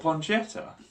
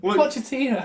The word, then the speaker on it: Pochettino: What, Ponchetta? What? Ponchetta? What's his name? Ponchetta? This ain't getting edited. Say that again. Ponchetta. Now you're going to make me say it wrong. Pochettino.